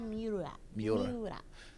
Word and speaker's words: Miura: And I just hope that, I don't know how to pronounce his last name. Is it Miura? Kentaro Miura? Yeah, Kentaro Miura.